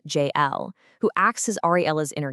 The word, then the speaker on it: Jael: By dropping into the calm, ancient voice of Jael, pronounced J-L, who acts as Ariella's inner guide, we're given a totally new directive.